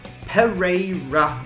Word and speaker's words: Pereira: Pereira.